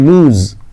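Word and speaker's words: lose: pronunciation ಮಾಡುದು ಏನು ಗೊತ್ತು ಇದನ್ನ ಉಚ್ಚಾರಣೆ ಮಾಡುವುದು ಲೂಸ್ ನೋಡ್ರಿ ಏನದು ಲೂಸ್ ಉಚ್ಚಾರಣೆ ಇದು ಬರೆಯುದಲ್ಲ ಉಚ್ಚಾರಣೆ ಲೂಸ್ ಅಂತ ಹೇಳಿ ಇದನ್ನ ಲಾಸ್ ಅಂತ ಪ್ರೊನೌನ್ಸಿಯೇಷನ್ ಮಾಡಬೇಡ ಲೂಸ್ ಇದರ ಪಾಸ್ಟ್ ಏನು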